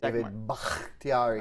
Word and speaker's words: Bakhtiari: This contains a choice of an 87 overall core elite Patrick Mahomes, Todd Gurley, Antonio Brown, David Bakhtiari. Did I say it correctly? David Bakhtiari.